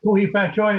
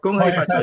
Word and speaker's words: Gong Hei Fat Choi: Kuhi Fat Choi, is that right? Kuhi Fat Gong Choi. Hei Fat Choi. Gong Hei Fat Choi to you as well.